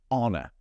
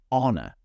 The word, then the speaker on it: honor: Honor. I'm not pronouncing the H. Honor. That's a silent letter. Be careful with that one.